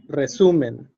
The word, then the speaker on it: resumen: Calle, sargento, resumen. Okay, so if you notice, these words, also like tesis, caravana, cabo, they have the strength in the penultimate syllable, the second to last syllable, right?